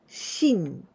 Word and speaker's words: 森: one Mori and Hayes together but here we pronounce with onion oyumi of this Modi is shin this is a jungle for example the jungle